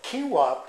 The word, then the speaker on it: quinoa: Alright, so quinoa, pronounced quinoa, was also known as the mother grain to the Incas and was fundamentally part of their diet.